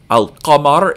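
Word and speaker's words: القمر: Al-qamar is the moon up in the sky. So al-qa is pronounced in the back of your mouth. So we hear the lam in alif lam.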